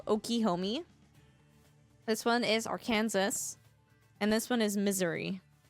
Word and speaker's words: Arkansas: This one is Arkansas.